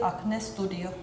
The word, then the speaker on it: Acne Studios: we say acne studio in Denmark you would say like if you would say it in a Danish way you would say acne Studio but I have never heard anyone say like that people would just say acne Studio like as it sounds in English in Finland we would say Anne studio in Norwegian we would say a studio I also noticed that